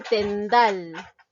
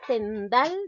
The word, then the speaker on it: tendal: ni sobre sus culos por último dice tendal la palabra tendal lleva la mayor fuerza de voz en asilah badal entonces nos damos cuenta